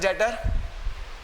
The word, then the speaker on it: debtor: क्या हो गई, and what is डेटर, डेटर B silent है।